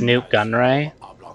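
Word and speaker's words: Nute Gunray: That character's name is Newt Gunray. Like Newt Gingrich. And Gunray flipped the syllables of the last name.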